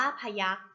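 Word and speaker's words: พยัคฆ์: คำ ต่อ ไป ค่ะ คำ ว่า พยัก พยัก อ่าน ว่า พยัก พยัก ประกอบ ไป ด้วย พอ พาน ยอ ยักษ์ ไม่ ทัน หน้า กาก คอควาย คอ ระฆัง การันต์ ค่ะ พยัก หนึ่ง คำ สอง พยางค์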